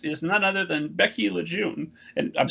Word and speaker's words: LeJeune: but um where i'm from it's actually pronounced lejeune and i gave up that fight around like